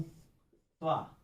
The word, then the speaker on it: त्वा: प्रत्यय ले रहा हूं त्वा, जिसको हम तत्वा बोलते हैं, बोलने में गलत है, त्वा प्रत्यय है, साइलेंट रहता है।